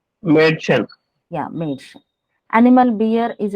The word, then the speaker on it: Mädchen: mm, Like for example, a noun, a little girl is said to be Mädchen. mm, Mädchen. mm. Okay, can you pronounce? Mädchen.